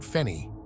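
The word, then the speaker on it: feni: She called it Fenny. Does that mean anything to you? She said it was a meteorite alloy. I think I know what she meant, said Daniel. It's spelled F-E-N-I.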